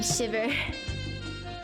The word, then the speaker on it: Shivrer: You don't pronounce the first R. Hey, I'm Shiver.